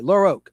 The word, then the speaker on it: LaRocque: Okay, LaRocque. I think that's how you pronounce the man's name. It sounds French.